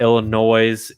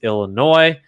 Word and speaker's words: Illinois: my people uh no it is not pronounced with the s on the end it's not illinois it's illinois i'm not from illinois